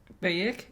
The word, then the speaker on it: Bayek: Assassin's Creed Origins Bayek? Bayek? Is that how you pronounce it?